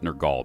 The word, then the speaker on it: Nergal: I'll try to pronounce it Nergal because I don't want it confused with the smelly guy from 40k.